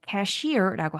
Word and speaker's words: cashier: 이 돈을 처리하는 이 계산원을 cashier라고 하고 강세가 뒷부분에 있습니다.